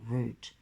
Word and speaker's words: root: Here in the old world, the word root does not rhyme with doubt, but with boot, toot, fruit, shoot, and loot.